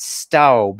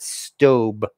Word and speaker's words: Staub: that everybody pronounces it staub or staub but in fact according to their own website they pronounce it stobe like stove um so this is